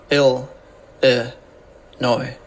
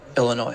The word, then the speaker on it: Illinois: Illinois this video we'll look at how to pronounce Chicago and Illinois ill noi Illinois Mr and Mrs Paul up in here up